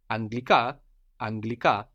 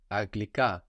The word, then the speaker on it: Αγγλικά: So Rama, two ramas together give us the sound of ng, like ng, or just g.